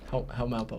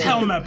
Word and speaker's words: Helmeppo: Helmappo. Help. Hello. Call him Hippo. How do you? He said call him Hippo. It is Helmeppo.